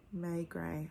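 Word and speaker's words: Maigret: of these inspector may gray is the guy may gray i had to look up the pronunciation of that it's it's easy to read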